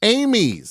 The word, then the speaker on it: Amies: said it perfectly the first time Tom Amy's Amy's okay and then I started to Maul it